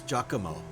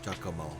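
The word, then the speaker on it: Giacomo: Uh, his full name is Jakamo. G I A C O M O. Jakamo as in.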